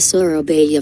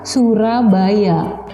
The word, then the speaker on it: Surabaya: Iya, ternyata kata yang sering diulang adalah Surabaya. Tapi karena Surabaya diucapkan oleh native speaker, orang Inggris, orang penutur bahasa Inggris ya, dia bilangnya tidak Surabaya tapi Surabaya.